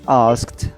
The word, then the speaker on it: asked: The word asked. Okay, when you have ed after key, you pronounce the ed as t.